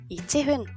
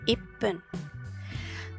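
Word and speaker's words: いっぷん: Entonces, según la regla debería decir ichihun, pero no es así. Un minuto es ippun.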